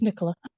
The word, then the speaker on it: Nicola: All right, now we'll do Nicola. I'd just like to remind everybody that I am going to default to German for most of these pronunciations, and I'm sorry. So not German, it's Nicola.